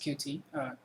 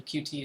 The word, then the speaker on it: Qt: For those not familiar with Qt, officially Qt is pronounced Qt, but honestly I prefer to call it Qt, so I'm going to stick to that.